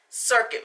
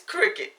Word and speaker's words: Cricut: It's not circuit. I'm sorry, it's Cricut. It looks like it's spelled like circuit, but it's actually called a Cricut machine.